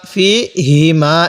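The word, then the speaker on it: فيهما: ফীহিমা, ফীহিমা এই হাটা উচ্চারণের সময় মুখে হালকা আওয়াজ বের করব।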